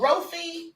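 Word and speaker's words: Rophe: The place is called Rofi. It's spelled R-O-P-H-E. I think that's Rofi.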